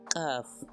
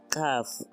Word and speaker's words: Kaf: La siguiente es Kaf. Esta, cuando tiene el puntito, su sonido es oclusivo, y cuando carece del puntito es fricativo. Por lo tanto ya no decimos Kaf, ahora decimos Jaf.